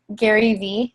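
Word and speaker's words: Gary Vee: And then I think his name is pronounced Gary V. Am I saying that right, Lisa? Yeah.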